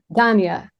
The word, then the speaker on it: Dania: Dania or Dania, how do you say your name? It's so I always say it's Tanya, but with a D. Dania.